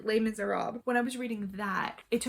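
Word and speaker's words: Les Misérables: When I was reading Les Miserables, I always think French, I'm saying it wrong, but no, it just ends abruptly. Les Miserables.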